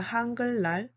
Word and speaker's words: 한글날: October 9th is a 한글날.